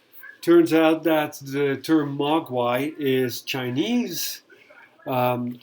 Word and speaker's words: Mogwai: out that the term Mogwai is Chinese um it is in two syllables as well Ma and then the second syllable guay and it means something